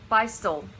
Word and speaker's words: Beistle: Beistle is how you say it.